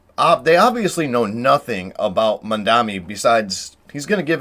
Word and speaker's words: Mamdani: this choice, and they obviously know nothing about Mamdani besides he's going to give everyone free shit. But yeah, they're very happy about this, and they're celebrating on TikTok. The name is Mamdani, M-A-M-D-A-N.